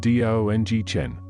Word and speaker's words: Dung Chen: The deep tones of the Dung Chen, pronounced Dong Chen, might sound again, signaling the evening prayers, their echoes fading into the vastness of the twilight sky.